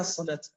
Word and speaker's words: الصلاة: ما بها الصلاة؟ جميل جدا. إذا نظرت إلى كلمة الصلاة في القرآن الكريم فإنك تجد بعد اللام لا تجد ألف، تجد واو. عجيب، أنا نطقت ألف.